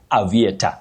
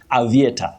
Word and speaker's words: aviator: Many people say aviator, and I'm sure, Wakio, you must have heard that. Aviator, very common. But the correct pronunciation of that word is aviator. Aviator, just like aviation, not aviation that we commonly say locally.